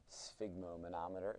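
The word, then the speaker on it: sphygmomanometer: using a spigo manometer spigo manometer is how you say that so uh if we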